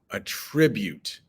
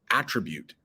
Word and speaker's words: attribute: Attribute. And there is another word in English, attribute, spelled the same way, pronounced differently, but we are talking about attribute, and that means to give credit to somebody.